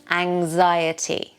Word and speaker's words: anxiety: Anxiety. The X sounds like a anxiety. Anxiety. Anxiety. Unfortunately, in this day and age, many people suffer from anxiety. And the stress is on the Z.